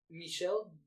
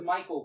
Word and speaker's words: Michel: I think you pronounce his name differently. I'm probably going to slaughter this, but I think it's Michel. Gondry? Yeah. Is that how? Because I thought it was Michael Gondry.